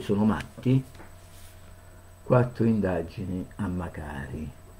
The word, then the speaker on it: Macari: I colpevoli sono matti, quattro indagini a Macari, o Macari, Macari, sì, Macari perché c'è l'accento su A, lo sfrantummato Lamanna, disoccupato,